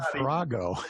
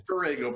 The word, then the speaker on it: Farrago: But he said Farrago. I went, huh, okay. Yeah. Well, it's Farrago, but that's okay.